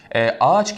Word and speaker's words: ağaç: şey ve okuyoruz efendime ağaç kelimesinde zaten iki geliş ünlü iki aynı ünlü yan yana gelmez ğ sildik ayı biraz uzatıyoruz ve Ağaç şeklinde telaffuz ediyoruz ev birçok örnek verilebilir